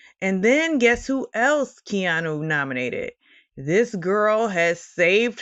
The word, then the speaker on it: Keanu: Keanu. And I am a stickler for pronunciations.